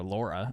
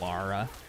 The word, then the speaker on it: Lara: and I'm like yeah it's not quite Laura Laura it's really easy to get him confused like the pronunciation is so similar but people see it and they think most Americans think it's Laura like Laura l-a-u-r-a instead of Lara but it's just a slight difference ooh legendary let's go